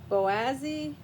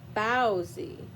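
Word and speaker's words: Baozi: Boazy. Oh, no. Bowsy. Bowsy. Bowsy the panda. Like a bow bun. Bowsy. It's spelled bow like a bow bun. B A O Z I the panda.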